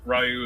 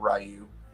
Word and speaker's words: Ryu: see I'm actually doing like the beard uh Ryu as well some people are saying I'm pronouncing it correctly that it's Ryu not rayu no it's not I I will oh Tim